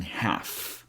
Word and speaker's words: half: Another word we don't pronounce the L sound is in half.